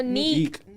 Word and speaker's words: Nique: Is that how you say her name? No. No. Do you know the YouTuber? What's her name? I think it's Nique. oh, Neek. Neek. Thank you. I thought her name was Nicki.